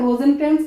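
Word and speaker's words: Rosencrantz: हैं ठीक है ये दो कैरेक्टर जो है रोजन क्रेंस इसकी स्पेलिंग है आर ओ एस स एन सी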